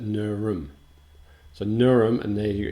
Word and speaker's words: Nerm: Port Phillip was apparently Nerm, N-E-R-M, which I think is not how you pronounce it. Usually with these schwa sounds, like the inverted E in phonetics, you would possibly, and you get this in Hebraic and Phoenician, where you only have consonants, and so you have to, I'm assuming that quite often when there's no consonant, you should just use a schwa, which is just an sound. So I would pronounce that Nurum.